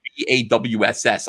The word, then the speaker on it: boss: Boss is spelled BAWSS. I'm the boss.